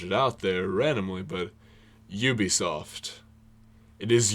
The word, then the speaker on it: Ubisoft: Maybe, if you have been, then you now know that it's Ubisoft and not Ubisoft. That is emphasis on you, like you were saying, like Yu-Gi-Oh! Ubisoft, not like Ub. It's not Ubisoft. It's Ubisoft.